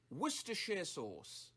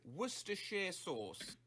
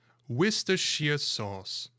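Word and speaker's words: Worcestershire sauce: We're looking specifically at the pronunciation which is of course worershir sauce. I'll say that again. Worcers sauce. Woristers. Woristers sauce.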